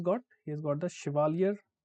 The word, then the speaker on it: Chevalier: He has got the Chevalier, very difficult name to pronounce here. So it is the French word, okay.